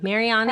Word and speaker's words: Mariani: How did I do on the pronunciation of the last name? Mariani?